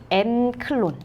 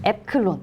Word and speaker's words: 앱클론: 상한가 종목이라고 하면 저희가 엠클론 인데요. 앱클론. 네, 앱클론이네요. 발음을 잘해야겠네요.